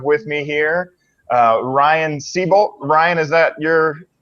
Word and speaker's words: Seybold: and I have with me here uh Ryan seabolt Ryan is that your correct pronunciation for your last name seabolt seabolt yep all right and we also have Brian